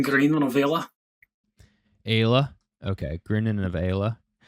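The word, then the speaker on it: Grianán Ailigh: the easy way to say it is Green Anne, Mhm. but if we're saying it in Irish, as Gaeilge, it's an Green an Avila.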